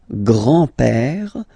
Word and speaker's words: grand-père: Le grand-père. Remember, accent grave like that. It's this opened père.